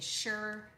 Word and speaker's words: SHER: What we use in the JIA blueprint is what I've coined the SURE method, because it's sure to work, but it's spelled SHER.